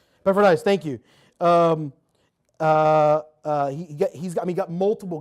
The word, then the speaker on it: Epaphroditus: Titus and Timothy, Luke, Epaphroditus, I can never say his name. Epaphroditus, thank you.